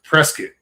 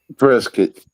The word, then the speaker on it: Prescott: it's pronounced Preskitt. Preskitt. Preskitt.